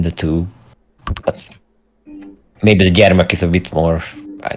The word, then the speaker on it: gyermek: You can always you can also say gyermek with an additional M. Okay. I think that's, I don't know what's the concrete what's the difference between the two, but maybe the gyermek is a bit more, I don't know, warmer, Okay.